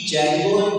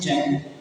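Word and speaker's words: Django: या वेबसाइट बनाने की डी जगो प्रोनाउंस करते हैं जगो डी जेंगो लिखते हैं लेकिन प्रोनाउंसिएशन क्या है? डी साइलेंस है।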